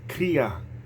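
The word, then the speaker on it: kriah: uh is an old Hebrew Uh custom uh Kaa it's pronounced Kaa it's k r i a h and it's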